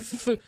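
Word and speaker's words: phở: effectivement une soupe d'ailleurs ça se prononce feu j'ai mal prononcé faudrait dire feu vietnamien et non pas c'est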